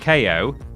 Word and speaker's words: Kao: about ko the kangaroo it's pronounced ko ko because he's got boxing gloves you see okay like ko get it oh i'm doing the